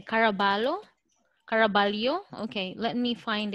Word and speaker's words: Caraballo: lo or caraballo because it sounds spanish it's actually spanish i found one how actually i have yeah kara balu it says there i